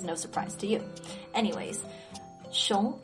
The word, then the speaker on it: 熊: Anyways, 熊 in the second tone means bear.